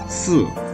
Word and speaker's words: 四: 四 have 4 tone, so we pronounce it 四四五五 is 5 in Chinese.